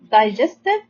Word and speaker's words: digestive: And the e in the end of this word is written but not pronounced, as many words in English.